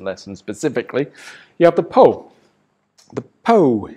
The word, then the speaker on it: po: You have the po. The po, if you want to pronounce it exactly as you would in English, the P-O, po.